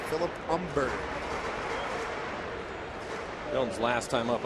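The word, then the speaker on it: Humber: 95 umber at 92 the H is silent in his name Philip umber mil's last time up umber was throwing High fast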